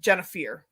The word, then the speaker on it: Jennifier: So my first name is actually said Jennifier. There's an extra I in there, so it's F-I-E-R. So a lot of people say Jennifier. I'm like, that's not English because Pier is spelled P-I-E-R, right? So it's fear, Pier, same thing. So Jennifier. I've always been very regimented in my life.